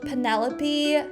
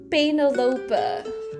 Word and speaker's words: Penelope: I also remember in elementary school there was a girl called Penelope. I thought you pronounce it Benolopa, but that's cuz Dutch Dutch pronunciation. I just didn't know better at the time. Benalopa is what I called her.